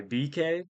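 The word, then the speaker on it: BKAYE: album or EP by BK that's spelled like b k a ye and that remix was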